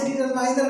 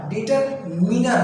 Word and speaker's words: डिटरमिनर: Determine से डिटरमाइनर नहीं होगा, डिटरमाइन तो होता है, तो क्या होगा, क्या होगा, डिटरमिनर होगा।